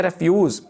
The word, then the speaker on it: refuse: REFUSE, जब इसको हम कहते हैं रेफ्यूज तो तब ये होता है गार्बेज या वेस्ट, कूड़ा करकट, रेफ्यूज। तो जब इसको हम क्या प्रोनाउंस करते हैं रिफ्यूज तो इसका मीनिंग होता है से नो, इनकार करना, रिफ्यूज इनकार करना।